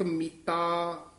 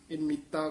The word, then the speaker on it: मिता: जप हो मेरे गुरसिख मिता मिता कसके ही उच्चारण कर मीता नहीं कहना मीता नाम जप हो